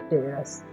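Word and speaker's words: terrace: तो सी साथ में रहता है, सी के बाद ई रहता है तो सी का उच्चारण स होता है, ठीक है। टेरस पढ़ेंगे।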